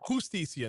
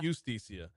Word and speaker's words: Justicia: Oh, Justicia. Justicia, not Justicia.